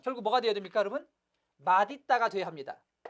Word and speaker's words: 맛있다: 맛있다가 돼야 합니다. 이 단어의 발음은 맛있다가 맞습니다.